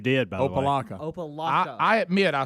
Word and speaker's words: Opelika: How do you say opalaka? How do you say See, frustrating? you're saying opalaka. That's what he just said. Yeah, you did, by the way. Opalaka. Opalaka.